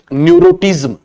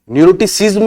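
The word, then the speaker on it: neuroticism: पहली विमा है न्यूरोटिज्म, न्यूरोटिसिज्म भी बोल सकते हैं, न्यूरोटिज्म भी बोल सकते हैं, ठीक है ना।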